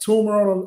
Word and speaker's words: Toomer: No, you said it right. Toomer, Toomer. It's Toomer, not Toomer, right? Right. Toomer with two O's.